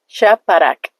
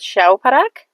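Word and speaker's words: شاپرک: Shaparak. Shaparak. Alright? Shaparak. Shaparak. Sometimes people will also call it shauparak, but it's actually shaparak.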